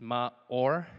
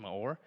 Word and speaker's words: Maor: It's Maor. It's pronounced Maor.